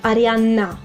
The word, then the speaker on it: Arianna: I also noticed that you guys sometimes spell Arianna with just one N, Arianna. But in Italian it's double N, so you need to strengthen the sound. Arianna.